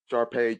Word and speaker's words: Sharpe: come out of this recording I got Ashley Sharpe chest with me today hey guys did I did I pronounce your middle name correctly you totally pronounced